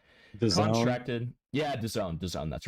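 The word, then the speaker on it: DAZN: Dea DN can't remember how to pronounce it. Contracted. Yeah, Done.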